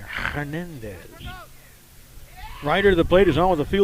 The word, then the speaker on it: Hernandez: Hispanicized the pronunciation there. Hernandez.